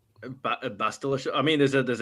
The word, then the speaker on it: Bastila: What is uh Bastili Sean? What is that? Is that a game thing? Bastila.